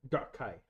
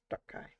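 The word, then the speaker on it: Dar'kai: Dark Kai. Dark Kai. Okay. Emphasis on the first syllable, a little bit of a glottle stop after.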